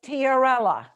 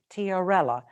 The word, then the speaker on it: tiarella: your presentation in your garden yes it was tiarella t i a r e l l a tiorella there's hookera carabelles there's hookerella which is a